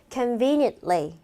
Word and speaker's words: conveniently: 근데 여기서 ly 붙었을 때 이런 아이들은요. conveniently 이렇게 끝나는 T 발음 안 한다라는 이런 포인트 늘 주의해 주시고 그 다음에 represent 자, represent거든요.